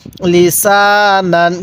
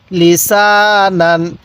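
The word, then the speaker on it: لِسَانًا: আলিফ জবর সা নুন আলিফ দুই জবর নান লিসান কিভাবে শিখবো লিসান এরপর মিম জবর মা হামজা খারা জবর আ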